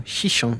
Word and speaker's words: Xixón: Day four of our cruise and we've arrived in Hihon or Shishon as it's pronounced in Atorium.